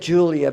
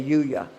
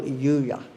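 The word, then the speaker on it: Juliá: Well, he just said Julia because none of us could say Yuya. Oh. But it was Raoul Yuya.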